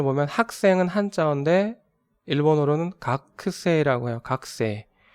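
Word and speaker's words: 学生: 보면 학생은 한자인데 일본어로는 각 세라고 해요 각세 예 학은 각으로 읽고 생은 새라고 발음을 해요 그래서 이렇게 지금 읽은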